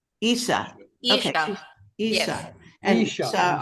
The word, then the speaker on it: Yssah: Yssah. Yssah.